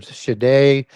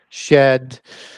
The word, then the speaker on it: Sidhe: for the seed or Shade, shed, all sorts of different pronunciations to it, Sidhe, of the Tuatha De Danann.